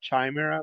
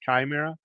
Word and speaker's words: Chimera: Chima all right so people say Chimera because if you spell it it's ch it's spelled CH h m r a so it looks like Chimera but the CH sound in this particular word has a k sound so it's Chimera and in uh Greek